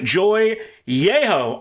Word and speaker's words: Joy Jechow: Philip's Episcopal School, we've got Joy Jechow on the phone. Did I say it right? Yes, that's correct.